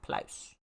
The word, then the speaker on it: Pluis: So Pluis is Plaus. It is the Dutch word for fluff.